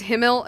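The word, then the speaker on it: Himmel: Like I'm pretty sure it's because himl him is like the proper uh German pronunciation, but come on. It's been like six years that I've been hearing it himl.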